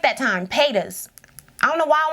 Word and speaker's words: Paytas: Pas.